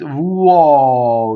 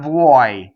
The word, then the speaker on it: vo: when you sing it's vo it's not vo it doesn't rhyme with boy right in fact Italians don't